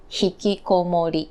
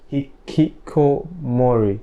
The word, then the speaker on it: Hikikomori: How do you pronounce it? Hikikomori. Hikikomori.